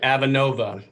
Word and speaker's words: Avenova: It's Avenova. Am I pronouncing that correctly? Yeah, that's correct. Avenova.